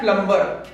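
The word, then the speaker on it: plumber: spelling पढ़ा जाता है एक और मिस्टेक जो हम जनरली डेली लाइफ में करते हैं वो होता है प्लंबर पी एल यू एम बी आई आर यहां भी एम के बाद बी ए रहा है इसीलिए यहां पर बी साइलेंट होगा जो की हम जनरली नज़र अंदाज़ कर देते हैं इसे हम प्लंबर नहीं बल्कि प्लंबर पढ़ेंगे इसी तरीके से कुछ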